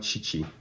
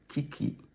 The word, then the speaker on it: Chichi: Chioma Chichi. See the way I pronounce Chioma's name? Chioma Chichi. I didn't say Kiki. I said Chioma Chichi.